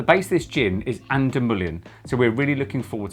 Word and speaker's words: An Dúlamán: hello i'm oscar because i'm no good at pronunciation and together we are the ginfluences uk the gym we're trying today is ander million santa ana armada strength gin oh there you